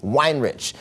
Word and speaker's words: Weinrich: What we drink and what you can be, right?